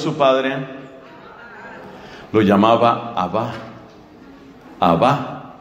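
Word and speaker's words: Abbá: padre lo llamaba abajo abajo parece que la pronunciación más probable es con ese acento al final abajo qué quiere decir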